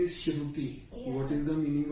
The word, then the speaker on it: Shruti: Pronunciation is Shruti or Shruti? Shruti.